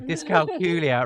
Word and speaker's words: dyscalculia: in a different way is to rhyme with Julia so we always say disc calcula rhymes with Julia so did I say dis Julia then sorry disc culia rhymes with Julia um